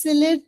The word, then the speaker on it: silhouette: Black and high, his silhouette dominates the furrows deep. Right? One second. Pronunciation. तो इसको break it down into 3. Silhouette.